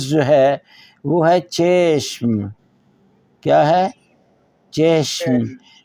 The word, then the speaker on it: چشم: جو ہے وہ ہے چشم۔ کیا ہے؟ چشم۔ چے کے نیچے زیر ہے، چشم۔ جس وقت ہم چشم